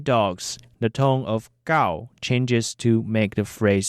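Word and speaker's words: 九: The number 9 is gao. Let's repeat that. gao. Interestingly, dog is also called gao in Taiwanese. When we say 9 dogs, the tone of gao changes to make the phrase sound more natural.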